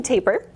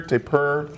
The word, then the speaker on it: tapir: don't be like American tapir his name before though there's a tapir tapir to purr and people pronounce it different ways kind yeah tomato tomahto and he is so much